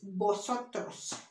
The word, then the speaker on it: vosotros: Remember, we don't pronounce V, it's vosotros.